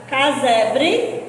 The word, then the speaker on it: Casebre: Casebre, esse S aí é como se eu estivesse pronunciando o Z, tá?